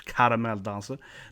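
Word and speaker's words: Caramelldansen: Like Caramel Dancer, has how it's pronounced, of course. Caramel Dancer.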